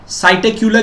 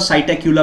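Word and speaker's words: Psittacula: अच्छा साइटक्यूला की बात कर रहे हैं। पी साइलेंट के फॉर्म में कर देंगे और साइटकुला बोल रहे हैं इसको।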